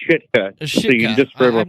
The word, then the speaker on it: Sitka: It's pronounced Shitka.